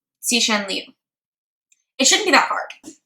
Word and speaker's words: Cixin Liu: X sounds kind of like S-H, it's like a sh. And then C sounds like T-S.